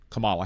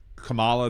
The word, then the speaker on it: Kamala: that you believe that any spelling of that combination of letters is pronounced Kamala instead of Kamala. So maybe that has caused you to uh believe that that her name is pronounced that way.